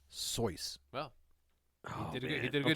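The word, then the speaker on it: Seuss: is Theodore so geel it's pronounced soy well did he did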